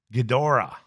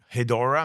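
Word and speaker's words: Ghidorah: We have the the three horse and that is Gdora. G H I D O R A H. Gora. Would you say that? Hedora. Maybe Hedora. Maybe that G is silent and becomes a Hedora.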